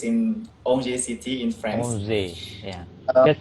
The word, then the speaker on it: Angers: Onze. Yeah. The spell Um, is Onze, right? yeah, The Angers, pronounce.